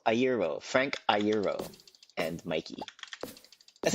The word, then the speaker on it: Iero: Eero is pronounced Iero. Iero.